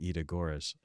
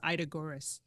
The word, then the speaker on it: Ida Görres: out of This Bread Grows in Winter by Ida Görres.